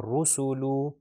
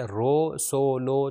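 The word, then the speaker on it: رَسُولُ: تو یہ خیال رکھا جائے تینوں کے اندر ساؤنڈ او کی آئے گی. رسولو، رسولو.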